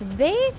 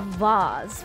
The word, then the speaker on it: vase: Do you guys remember the Disney movie Hercules? And it stuck with me how one of the one of the muses said, it's Vaz, not Vase.